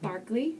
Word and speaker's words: Berkeley: And actually spelled Berkeley, but pronounced Barkley. Excellent, which baffles me, but... so that's how I should say it when I announce it? And, yeah, it's Berkeley Square.